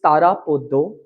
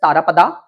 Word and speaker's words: Tarapada: See, I come from Bengal, my dear, and it is Tarapodo, it is Onnapurna, and it is Charu Shoshi, and it is Shonamuni. Had I been from Maharashtra or Delhi, maybe I would have pronounced it as Tarapada, Annapurna, Motilal. Okay? We have that Bengali accent and I take pride in speaking in that certain way.